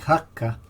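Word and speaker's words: haugr: passing beneath the wall the Old Norse word is spelled h-a-u-g-r but pronounce something like hakka from which Howe derives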